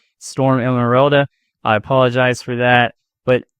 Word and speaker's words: Storm Emeralda: Today we're going to talk about Storm Emeralda. Yeah, I know I pronounced it wrong earlier. I think I was saying Emerald Storm or Storm Emerald, Storm Emeralda.